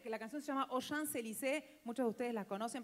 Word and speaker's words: Champs-Élysées: Para que suene re francés, no pronuncias la P de Champs. Los dejé pensando. No es tan difícil, chicos. Es así. En vez de decir au Champs-Élysées, decís au Champs-Élysées.